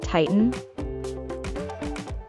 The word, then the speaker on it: Titan: open or separate it note that when the sound T is followed by an sound within a word as in the word word Titan make sure you hold the t and then add in without releasing the tongue from the gum Ridge Titan Titan a belt